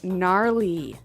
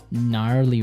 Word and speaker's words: gnarly: We heard the ski instructor say gnarly. Gnarly. Run. Yeah. Gnarly. So, an interesting word. It's spelled G N A R L E Y. Okay. So, but you don't say gnarly. No, you say gnarly.